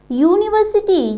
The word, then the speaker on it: university: Okay, here university, U is here pronounced as consonant, so we use here A.